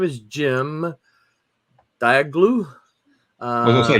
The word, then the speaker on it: Cem: Would you have said Jim if that's what you saw right there? CEM. Wait. Oh, really? That's Jim. Um, That's pronounced Jim.